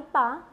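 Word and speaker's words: pas: लेकिन गौर करें, जब पा यह शब्द किसी भी स्वर से शुरू होने वाले शब्द के पहले आता है तो उसके अंत के ज का उच्चारण करते हैं। उदाहरण, सने पा ज क्रायो। लेकिन अगर पा ये किसी व्यंजन से शुरू होने वाले शब्द के पहले आए तो उसका उच्चारण नहीं करते।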